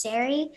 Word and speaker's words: Saree: of people can't say my name's sari so he was like it's scary like larry and it kind of